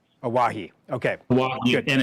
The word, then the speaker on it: Owyhee: yeah we pronounce it aahi aahi okay a and it actually has roots in the word Hawaii and if you look